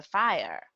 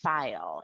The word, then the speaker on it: fire: She doesn't add fuel to the fire. At first in the video, you hear me say file instead of fire. I said it wrong.